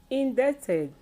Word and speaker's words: indebted: If you look at the spellings, they all have a B spellings, which is silenced.